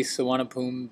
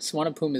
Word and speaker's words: Suvarnabhumi: I'm in the Suwanapoom, Bangkok airport. Suwanapoom is actually spelt, if you look at it phonetically, Suwanapumi, but you don't pronounce the E at the end.